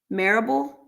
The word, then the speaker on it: Marable: You said pronounce Tosh rhymes with parable. Oh, so, okay, Tosh Marable.